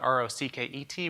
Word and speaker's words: rkt: And so it was originally spelled R-O-C-K-E-T. We later renamed it to RKT Rocket, pronounced the same way.